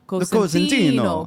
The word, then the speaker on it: Cosentino: No one get mad at Aaron, because you're saying it probably the correct Italian way, Cosentino.